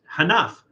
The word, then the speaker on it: Hénaff: It is Hénaff French champagne pork pate. This is a product of France. Hénaff was founded in 1907 by Jean Hénaff, so it's not just a catchy name, Aristide Gantier, and Joseph Stanislas Moreau.